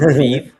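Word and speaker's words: Revieve: Uh we pronounce it Raviv.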